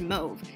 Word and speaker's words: mauve: of the story but do you guys pronounce it move or mauve I've been pronouncing it mauve my entire life and only recently found out it's pronounced move and I feel silly